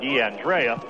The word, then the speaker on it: DeAndrea: It's just an R-A at the end, but yet when I talk with Carm DeFrancesco, he said DeAndrea.